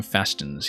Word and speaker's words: fastens: Usually the T is silent in fastens. Really? I don't know if that's just a regional dialect thing. I've said the T in fastens pretty much all my life.